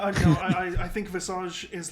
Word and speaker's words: Visage: an illusion but yeah so that is supposed to be called vizage but valve have actually said that his name is visage and you say it and you say a message yeah the correct pronunciation of that hero's visage i was looking around because i was confused because i was confused on it and it sucks i i will be corrected and say visage i'll try to at